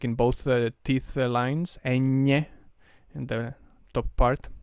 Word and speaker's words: ñ: see that this is ñ. Ñ, it's pronounced with, like, if your tongue was completely flat, and you like support it in the side of the mouth, like in both teeth lines. Ñ in the top part, like N, but Ñ.